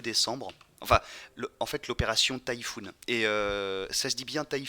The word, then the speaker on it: Taifun: Le Messerschmitt Bf 108 s'appelle le Typhoon aussi. Écrit donc T-A-I-F-U-N pour que ça se prononce comme le mot Typhoon en anglais.